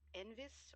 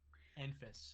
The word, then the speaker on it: Enfys: It's something akin to either Envis or Envis. Either is fine.